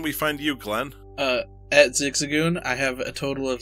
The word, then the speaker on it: Zigzagoon: It's Zigzagoon. So Ziggs, which is Ziggs, and then then Goon, as in Goonies.